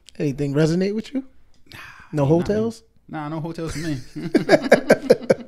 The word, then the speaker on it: Heaux Tales: Hotels. I thought it was Ho, but I didn't look like Ho.